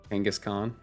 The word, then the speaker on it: Kangaskhan: King ashin H yes I too pronounce it like the molian Conqueror as as we should right Kangaskhan freaking your team is